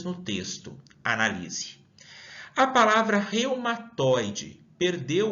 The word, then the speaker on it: reumatoide: separo quantas sílabas tem Será que eu menciono reumatoide ou eu consigo falar em um único fôlego eu matoy a última forma que mencionei é a correta vamos realizar a oração